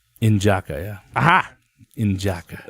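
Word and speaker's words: N'Jadaka: I think his name was N'Jaka. Injaka, yeah. Aha. Injaka. They don't pronounce the D. Unjaka.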